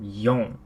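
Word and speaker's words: 四: So in general, I believe people will generally use the term yon. The reason being is because the term she is also the way you pronounce the word meaning death or to die.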